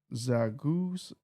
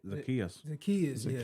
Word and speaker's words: Zacchaeus: And your top receiver was Zaguzes? Oh no. Zacchaeus. Zacchaeus is how you say it.